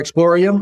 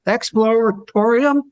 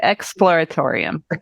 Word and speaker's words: Exploratorium: Emporium for one or Explorium I guess it is explor how do you say that expl Exploratorium yeah just slow down a little bit Exploratorium okay so that that